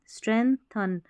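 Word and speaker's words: strengthen: क्या मजबूत करती है अब देखिए स्ट्रेंथन में है ना स्ट्रेंथन यहां पर देखा जाए तो यह जी साइलेंट है।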